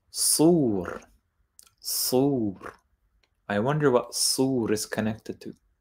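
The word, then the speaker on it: صور: And strangely, in Arabic, it's not pronounced this way. It's actually pronounced sur.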